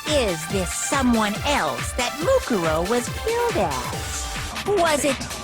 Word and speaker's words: Mukuro: Makuro. It was Mukuro, of course. Mukuro. Yeah. I don't know why I pronounced her name that.